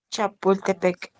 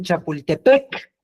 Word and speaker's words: Chapultepec: Ok, nada más que en náhuatl no había palabras que terminaran con el acento, es decir, pronunciando más fuerte al final. No había agudas, entonces no existía eso de Chapultepec. Eso es nuestro, ya deformado. ¿Cómo se llamaba? Chapultepec. Tampoco había esdrújulas. Chapul. El acento era siempre grave, es decir, en la penúltima sílaba, en el T, ahí tienes que decirlo más fuerte.